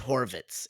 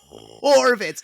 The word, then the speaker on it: Horvitz: to do that right it's hard to go that that D to a hard H I was I was